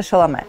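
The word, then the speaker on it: Chalamet: как произносится тиморе шаламе во-первых у него отец Француз поэтому как бы it was supposed to be Tim он так это формулирует в некоторых интервью что типа was supposed to be like that вот он совсем юный на премьере интерстеллара во Франции и там он произносит шало А вот он на вручении какой-то премии его ударение перескочила на второй слог но очень многие называют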